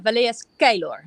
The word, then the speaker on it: Valea Scheilor: So I will first say how I would describe the name in the Netherlands, Valea Scheilor. And when I do it in Romania, Valea Scheilor. So it's a bit different.